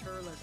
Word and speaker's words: Turles: Correct pronunciation is Turles.